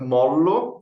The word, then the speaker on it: Mollo: but molo is actually Italian so there is no Portuguese pronunciation sorry anything soft yeah